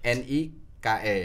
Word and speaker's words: Nike: Tulisannya NIKE. NIKE.